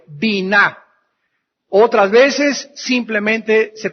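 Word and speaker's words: בינה: La palabra inteligencia en el hebreo es la palabra bina. B grande, Y, N, A, H. Bina.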